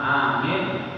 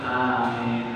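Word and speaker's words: آمين: Dan sunat membacanya dengan menyaringkan, tidak bertasydid huruf mim, tidak bertasydid huruf mim. Dan panjang pada huruf hamzah, yaitu bacaan yang terlebih fasih.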